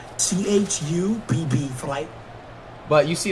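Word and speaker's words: Chubb: go they CH push it's not CH it's chub bro if you're going to run with him say his name right bro it's not you it is chub it is Nick chub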